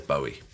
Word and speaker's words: Bowie: went back and i looked and bowie says bowie and how do you say your son's name